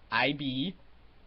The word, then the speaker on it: Ib: play of new book I be that is pronounced because it's pronounced by it's pronounced as Eid EE B but the originals titles saying is I B so yeah if